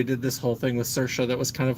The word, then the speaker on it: Saoirse: this whole thing with Saoirse that was kind of like Liza with a Z. Yeah, rhymes with inertia.